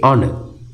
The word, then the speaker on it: honor: u we say an honor why because when we say horner we don't say the h the h is silent we say honor and that leaves us